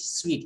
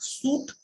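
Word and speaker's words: suite: or is it sweet you people have to pronounce it sweet it is not soup but it is sweet you people can check dictionary mr i have taught you pronunciation second semester somewhere i have taught pronunciation so it is sweet not soup and people can come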